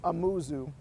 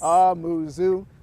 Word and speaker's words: Amuzu: So my last name is pronounced Amuzu. Very simple, but another way to remember it, it's like a moo cow at the zoo. Yes. Amuzu, like a moo cow at the zoo.